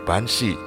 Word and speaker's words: Banshee: Kata Banshee berasal dari bahasa Irlandia yaitu Binsi, diucapkan sebagai Banshee yang diterjemahkan sebagai wanita peri kuburan.